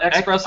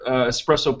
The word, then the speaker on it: espresso: We have not espresso. Don't you dare spell it espresso. I love espresso. Espresso with an S. There's no X in espresso.